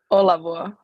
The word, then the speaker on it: Olavuo: Tell me how to pronounce it correctly. Olavuo.